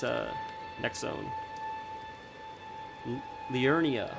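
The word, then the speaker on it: Liurnia: it's uh next Zone Leonia that's how you say it it's Leonia of the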